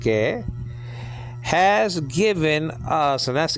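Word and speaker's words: καί: And then and Greek word kai, nowadays pronounced ke, has given us, and that's easy.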